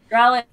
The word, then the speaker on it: Draluk: Draluk? Is that how you say it? Draluk.